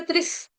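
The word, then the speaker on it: त्रिः: रहा है सप्त, तो यहाँ पे त्रिस, विसर्ग का उच्चारण होगा त्रिस, त्रिस आधा स हलंत स, त्रिस, सप्त, सप्त, सप्त, सप्त कृत्व, कृत्वक।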